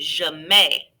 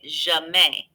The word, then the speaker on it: mets: Répétez, je mets. Yes, that's how you pronounce that. Think of the word buffet. An ET ending is an A sound and S's are silent. Répétez, je mets.